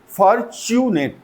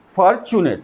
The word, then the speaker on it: fortunate: फॉर्चुनेट, लोग pronounce क्या करते हैं इसको फॉर्चुनेट, and that is very wrong. फॉर्चुनेट, फॉर्चुनेट, फॉर्चुनेट। सो 3 syllable हैं, फॉर्चुनेट, फॉर्चुनेट।